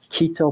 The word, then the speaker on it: Quito: Argentina have you heard of a place called Quito Peru is that how you pronounce it yes sir is that where Mrs